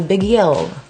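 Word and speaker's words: Beguile: What I'm using now is the MAC Brow Set, and this is in color Biguil. Am I okay, or like, are they making these words really hard to pronounce? Biguil. B-E-G-U-I-L-E, Biguil.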